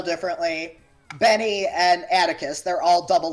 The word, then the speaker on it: Atticus: can say it right attica atticos atikos i don't know how to pronounce it it's atticus like that just like the uh you know like atticus finch oh okay right it's